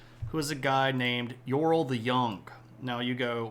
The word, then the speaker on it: Eorl: uh this is pronounced yorl like with a Y almost um so there's a little bit of the E like eorl but it's this is a one syllable word yorl uh Sam and Rosie